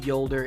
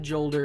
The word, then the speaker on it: Jolder: And yes, it's pronounced Yolder. It's been confirmed by Bungie. It's not Jolder, it's not Jolder's hammer, it's Yolder's hammer.